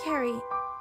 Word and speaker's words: Carrie: It's pronounced Carrie, like a K.